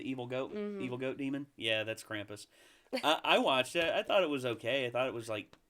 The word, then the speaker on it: Krampus: I don't, is that how you pronounce it? Is it the holiday movie about the evil goat demon? Yeah, that's Krampus.